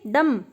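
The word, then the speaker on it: dumb: वह गूंगा है तो हम क्या बोलेंगे, ही इज डम, ही इज डम, यहाँ पे बी साइलेंट होता है, गूंगे को बोलते हैं डम।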